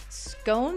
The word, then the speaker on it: scone: scone there you go scone there is an e for a reason i like these compelling